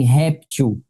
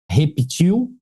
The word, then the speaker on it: réptil: Aqui você tem réptil, mas também tem a pronúncia repetil.